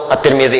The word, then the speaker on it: At-Tirmidzi: Nah, ketika diberikan al menjadi at, dibacanya at-tirmidzi. Disinilah imam kita kemudian dikenal dengan nama Imam At-Tirmidzi.